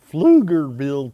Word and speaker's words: Pflugerville: Pflugerville Texas and you gotta say it right Pflugerville Texas you got to say it right so